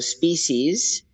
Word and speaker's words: SPESEAS: The first NGO, Species, it's spelled SPESEAS. So it's a play on words, Right, species.